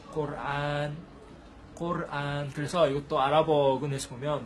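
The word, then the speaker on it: قرآن: 영어에서 이제 뭐 코란, 쿠란 이렇게 하는데요. 사실 아랍어로는 꼬르안이에요. 꼬르안.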